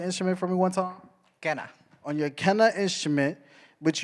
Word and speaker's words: quena: Can you pronounce your instrument for me one time? Kenna.